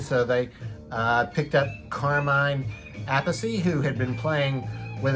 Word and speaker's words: Appice: I've heard his name pronounced a couple different ways, but the singer for the band called him Appice, so I'm assuming he knew how to pronounce his name.